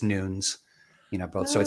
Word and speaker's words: Nunes: in portuguese itself right it's not pronounced with the uh with the dual syllables so it's it's nunes you know both so